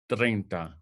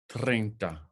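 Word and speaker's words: treinta: Our next one is 30 in English, but in Spanish, it's 30. 30. 30.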